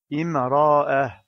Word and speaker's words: امرأة: La lettre alif placée sous la lettre hamza sert uniquement de support et n'est pas prononcée. Imra'ah.